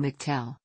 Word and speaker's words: McTell: angel and Statesboro blues he pronounces his surname McTell with the stress on the first syllable one of Mattel's most